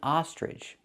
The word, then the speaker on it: ostrich: Use the open ah sound like hot and stop. Ostrich. Now the last part has ch, so you can pronounce it like ch and say ostrich. But in America we have two pronunciations. Some people say ostrich, and some people say ostrich, using the j sound like in juice and jump.